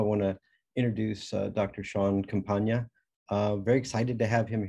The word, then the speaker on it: Campagna: Sean, see if I can say it right, Compagna, like lasagna, Compagna.